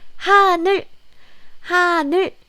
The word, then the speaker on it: 하늘: When you use this real sound at the end of the syllable, then it's closer to L sound. But again, it's not so tensed. So it's not 하늘. It's not like that. It's 하늘. It's not tensed.